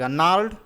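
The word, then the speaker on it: gnarled: of twisted बनस रिसाइटिड नार्ड disease यहां पे गरना में जो जी है इसको आप साइलेंट मान लीजिए और उसके बाद पढ़िए नार्ड डिजीज ठीक है हिज लेसन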